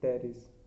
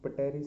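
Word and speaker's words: Pteris: तो डी से है ड्राइव टेरिस, पी से है टेरिस। अब कह रहे हैं सर वो तो पटेरिस नहीं है, पी साइलेंट होता है भैया, ठीक है।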